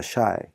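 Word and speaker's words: شاي: 그 다음 단어는 SH 발음에 아가 들었을 때가 샤, 길게 읽었습니다. 샤. 그 다음에 야자가 다 샤이.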